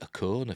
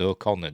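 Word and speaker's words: Okona: generation as thadian o'connor i always pronounced it a corner for some reason even though they're saying the episode or connor don't they but somebody's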